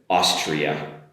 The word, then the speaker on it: Austria: um Australia compared with Austria. Australia Austria okay? Beginning of course is the same but we've got an “alia” compared in Austria.